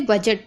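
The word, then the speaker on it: budget: जा भी पढ़ेंगे, तो इसे बजट पढ़ते हैं। ठीक है, इसमें डी नहीं पढ़ना है।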